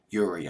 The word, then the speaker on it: Urie: Hope I pronounced his last name correctly. Urie, I believe is how you pronounce it.